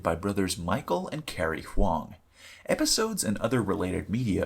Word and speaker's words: Huang: Battle for Dream Island, abbreviated BFDI, is an animated web series created by brothers Michael and Carrie Huang.